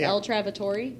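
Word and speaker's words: Il Trovatore: Mitch pronounced that El Travatori better than I did. We talked about this. You looked it up, right? It's El Travatori. El Travatory.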